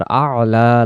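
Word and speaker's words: أعلى: কিন্তু আমরা যদি এখানে শব্দটা পড়ি আলা আলা। তাহলে এখানে আইন অক্ষরের কোন উচ্চারণ হইলো না। আলা যদি পড়ি হামজা জবর আ। লাম জবর লা আলা। আর এখানে উচ্চারণ আছে আলা।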